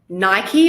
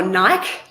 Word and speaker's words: Nike: So think about Nike or Nike, depending on your pronunciation. We have two different nationalities here.